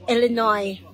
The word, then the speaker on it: Illinois: si carmel sa na watching from Illinois ang pagpronounce Illinoy wala pa wala pa gange wala pa kay